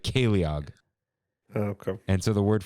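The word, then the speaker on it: ceiliog: i l i o g like it's it's pronounced like like caleog okay and so the word for that is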